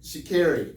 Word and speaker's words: Sha'Carri: Sha'Carri, yes, it's Sha'Carri.